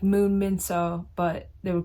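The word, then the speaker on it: Min-seo: And obviously it's written out Moon Min dash So, S-E-O, which is pronounced So. But the entire time in the audiobook narration, it was saying Seo, Min Seo, which is incorrect.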